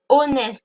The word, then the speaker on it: honest: Et là, en l'occurrence, le H de honest ne se prononce pas. Je ne dis pas an honest man. Je dis an honest man.